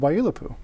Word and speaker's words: Waiilatpu: And so that's why our club has chosen to be called Waiilatpu.